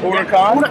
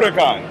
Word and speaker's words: Huracán: new Ur um and did I say that correctly urakan Ur urakan yes the right pronunciation the right not Italian